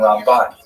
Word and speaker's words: Ramban: Rambam is pronounced with the emp and rambut is pronounced with the emphasis on the second syllable. Rambam and Ramban.